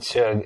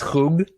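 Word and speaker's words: schug: my wife called it chug it's uh it's it's pronounced hug uh yeah it's of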